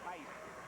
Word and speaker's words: Heiss: David Heiss, is spelled H-E-I-S-S.